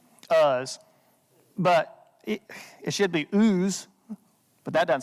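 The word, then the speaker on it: Uz: where job is from OOTS that's how you would pronounce it if we were reading Hebrew OOTS but that's not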